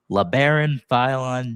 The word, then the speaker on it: Labaron Philon: pick 22, the 76ers selected guard at Alabama, La'Baron Filon Jr. And I believe that's how we pronounce the name.